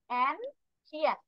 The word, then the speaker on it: ancient: ancient এখানে সি এর উচ্চারণ হবে শি।